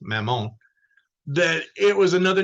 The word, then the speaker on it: Mammon: thought that it was another name Mammon actually pronounced Mamon that it was another name for Beelzebub Saint